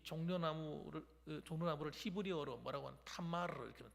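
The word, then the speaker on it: תמר: 그래서 이름도 뭐라고 짓냐 그러면 이 종려나무를 히브리어로 뭐라고 하는 타마르 이렇게 하면 타마르 따라합시다. 타마르. 뭐라고요? 타마르. 잘하시네요. 아주 발음을.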